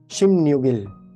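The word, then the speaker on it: 십육일: लेकिन लिखना तो आपको शिप युग इल है, उसका जो उच्चारण करना है ना, वो देखिए यहाँ लिखा हुआ है रेड कलर से। कैसे करा होगा आप पढ़कर बताइए आप। शिम न्यूगिल, शिम न्यूगिल, शिम न्यूगिल नहीं, शिम न्यूगिल, ऐसे आपको बोलना है।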